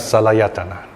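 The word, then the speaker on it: saḷāyatana: Sal ayatana. Of course, you don't pronounce it that way. We pronounce salayatana. Okay, we smoothly go through it, salayatana.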